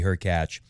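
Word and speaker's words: Hurkacz: less one-sided fashion against who be her catch rhymes with latch but you could see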